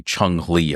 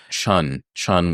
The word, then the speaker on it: Chun-Li: You know how many times I hear people say Chung-Li all the time? Chun with an N, not a G.